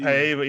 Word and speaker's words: Paiva: It's Raulian Paiva or Paiva, or how do you say his last name? Yeah, that's why I wasn't sure if it's Pava or Paiva. Paiva, yeah, it's Raul.